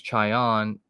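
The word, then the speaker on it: Čajan: the Columbus Blue Jackets his name is chion I think he's not Canadian though and it's spelled c-a-j-a-n it's like a CH look we got a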